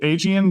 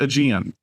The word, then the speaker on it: Aegean: So I know it's one of those words when you think you get it wrong, even when you say it right, you can never wrap your brain around it. So say it with a British accent and it always sounds right.